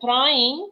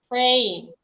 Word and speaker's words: praying: work on your pronunciation you said prying and prying is something else praying praying okay then then uh you